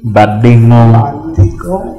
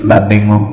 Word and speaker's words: Badingo: We're here with Badingo. She can't pronounce my local name. It's Badingo.